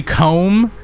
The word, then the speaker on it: comb: It's like when you spell or say comb, the B is like, how? Why do you spell it with a B? Why is it spelled with a B? Because it's silent.